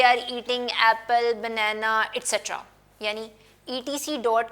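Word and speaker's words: et cetera: बोलते हैं और आगे एट्सेट्रा लिख देते हैं। सो इसको प्रोनाउंस एट्सेट्रा करते हैं, और लिखा इसको शॉर्ट में कैसे जाता है, I hope it's ड्राई, ETC dot, actually it इज एट्सेट्रा।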